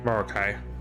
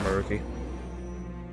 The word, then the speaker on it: Maruki: Made it to Maruki. Oh, and it's only time skip time. Marukai, not Maruki.